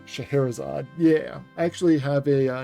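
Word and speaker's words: Scheherazade: hell got it right Shahar isad yeah I actually have a Nintendo game called the uh the magic of shaherazad and I learned how to pronounce the name based on that game shaherzad is also the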